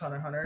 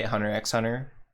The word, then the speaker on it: Hunter x Hunter: another good one um it's actually spelled hunter x hunter but it's pronounced hunter hunter yeah yeah for beginners